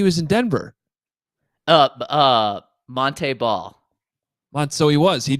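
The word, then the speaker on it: Montee: the background um because he was Monty ball like his entire Wisconsin Career and then all of a sudden I think it was his senior year he's like no actually my name's Monte Monte ball you guys are pronouncing it wrong this entire time and I'm like well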